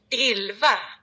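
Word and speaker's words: Elva: don't know Swedish, so Ilva. Oh, see, there's like, what do you call them? Emphasis on syllables that I wouldn't have even known. Let's have it again. Ilva.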